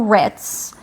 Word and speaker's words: writ: Um, and if you don't know what a RIT is, it's spelled W R I T.